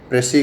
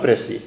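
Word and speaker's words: précis: what is meaning of प्रेसी आप सब लोग मुझे बताएं के व्हाट इज मीनिंग ऑफ प्रेसी यह प्रेसा इज नहीं है इट्स प्रेसी एस साइलेंट होता है इस के अंदर और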